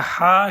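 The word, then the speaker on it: ح: The Ha should come from the middle of your throat.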